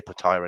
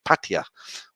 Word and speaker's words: Pattaya: Pattaya patio as well I don't say Pattaya anymore because I've been taught by Mali how to say it properly it's Pattaya with a little Gap in the middle which I can't do um right Barry Cole